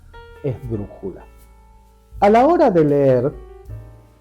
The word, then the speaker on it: esdrújula: ejemplo todavía y las esdrújulas son las que llevan el acento en la antepenúltima sílaba o incluso antes un ejemplo es justamente la palabra esdrújula a la hora de